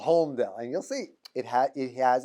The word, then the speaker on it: Holmdel: So they said, no, you hear the lamed.